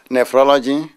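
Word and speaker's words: nephrology: kiwi who deals in how how do you pronounce that nephology nephology nephology which is a speciality that involves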